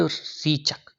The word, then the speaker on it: रेचक: This process of breathing out, सांस को बाहर छोड़ने की यह प्रक्रिया, यह प्रोसेस इज कॉल्ड रीचक। क्या कहलाता है ये कहलाता है रेचक। Correct pronunciation रेचक।